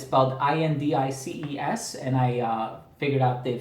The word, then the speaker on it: Indices: I looked it up online and it's about IND icees and I figured out the French pronunciation is on DS for sure okay but in English it's indicee